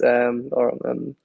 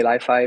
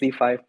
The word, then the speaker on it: LI.FI: It stands for Linked Finance, before anyone asks, and it's pronounced LI.FI. Even though if you're American, you would rather say LI.FI, but it's LI.FI because it comes from linked.